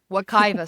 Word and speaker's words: Wekiwa: And my friends and I went to Wakiva Springs. Is that how you pronounce Wakaiva. it? Correct. Wakiva Springs, which you were saying is in that Apopka Yeah.